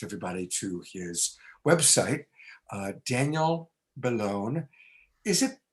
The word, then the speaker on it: Bellone: But I also want to direct everybody to his website, Daniel Bellone. Is it pronounced Bellone or Bellone? How do we pronounce it? Yeah, it's Bellone in Italian, but we say Bellone in English.